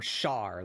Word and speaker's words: Char: Is it Char? Like Scorch? Or Char, like Charlene? Because that's how Charlene is spelled, like C-H-A. Char like Charmander, okay.